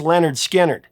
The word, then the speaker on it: Lynyrd Skynyrd: With the release of their debut album, pronounced Lynyrd Skynyrd, Lynyrd Skynyrd were on the cusp of something truly massive.